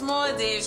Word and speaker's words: Maldives: It's Maldives.